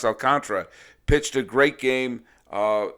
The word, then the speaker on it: Alcantara: alcantara i just found out his name is pronounced alcantra pitched a great game uh and it was